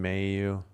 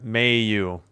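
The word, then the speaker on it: Mailloux: Logan, may you? Yep. May you. Same emphasis on both syllables.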